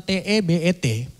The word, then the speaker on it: Tebet: Stasiunnya itu bertulisan TEBET. Kalian mendengar tertawa itu orang Padang semua. Kita bacanya itu Tebet.